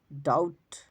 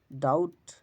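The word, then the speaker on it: doubt: যেমন ডাউট ডাউট এখানে বির উচ্চারণ নাই বা ডাউট ডেট দেনা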